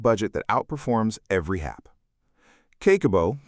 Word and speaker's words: Kakeibo: Kakeibo, pronounced Kah-keh-boh, is a Japanese household budgeting method developed in 1904 by Hani Motoko, one of Japan's first female journalists.